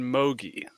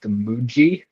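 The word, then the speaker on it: Mougey: Jets they have a new GM named Darren Mogi um I think it is actually pronounced Muji oh my bad my bad yeah so what's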